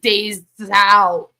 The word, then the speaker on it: Des Alpes: which is when they how they pronounce it it's like days out and they make the